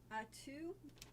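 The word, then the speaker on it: Attu: Atu, is that right? Atu in the Aleutians? Yes. That's actually it?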